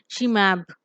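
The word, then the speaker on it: -ximab: So we have XIMAB. This is pronounced as SHIMAB.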